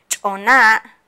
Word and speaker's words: choná: Choná. Y se dice choná. ¿Cómo se dice? Choná. Choná. Están hablando, se están saludándose entre ellos dos.